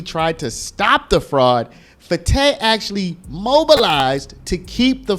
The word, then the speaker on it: Fateh: I said Fateh in my previous videos, but it looks like it's Fateh, so we're gonna try to pronounce it correctly.